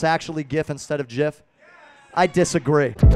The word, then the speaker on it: GIF: could ever open up it says step one pronounce the word jiff step two close the book